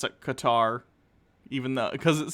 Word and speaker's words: Qatar: fact check from reuters white rhodes 13 guitarist pronounced cutter believe it or not okay i'll probably still pronounce it qatar even though because it sounds weird to me